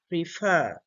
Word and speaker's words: prefer: f f f so the stress sound is here at the end prefer prefer prefer which is